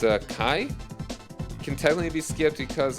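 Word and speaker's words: Chi: So all of them are the Seeker of Darkness Saga except for Kai? Is that how it's pronounced?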